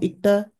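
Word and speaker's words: 읽다: Now, ikta, first conjugation, most basic conjugation becomes g, o, yo. Now, in this case, we do not pronounce the L. It becomes silent.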